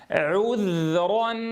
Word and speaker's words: عذرا: عُذ، نُذ، عُذ، عُذ، نضم الشفتين ضما محكما عند العين ثم نرجعها إلى وضع السكون عند الذال. عذرا أو نذرا. عذرا عذرا عذرا أو نذرا. عذرا أو نذرا. عذرا عذرا عذرا أو نذرا.